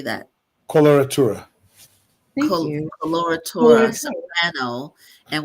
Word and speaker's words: coloratura: Coloratura.